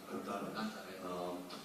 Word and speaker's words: Kantara: Yes, I've been starting with KGF, Kantara, if I can, that's the right way to say it, Kantara. Yeah. Kantara.